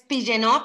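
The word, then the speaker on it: Pigeonutt: Es Pillenot, pero pues lo pueden pronunciar como se escribe, Pillenot o Pillenot.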